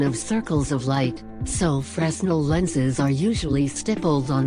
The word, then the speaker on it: Fresnel: big area a fresno lantern pronounced fresnel is a common lantern used